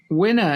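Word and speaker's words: Winna: uh so CEO of winner media now wner founded last year winner is spelled w i n n a but still rhymes with dinner as in winner winner chicken dinner was that expression uh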